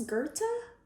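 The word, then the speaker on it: Goethe: easy is it ghost gothi i'll figure it out luke how do you say that that's gerta okay that's gerta he says everything is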